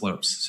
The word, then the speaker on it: Lopes: Ian McCarthy saying that he grew up playing with Tim Lopes and his brother Christian, and it is in fact pronounced Lopes.